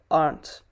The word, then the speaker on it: aren't: by native speakers uh so yeah it's aunt pronunciation hobby aren't so if you want to know uh what it stands for uh it is are not the simplified version is aren't pretty much the way you pronounce aunt the next one is